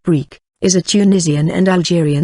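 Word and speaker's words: brik: were once filled Tunisian and Algerian brick brick pronounced brick is a Tunisian and Algerian derivative of the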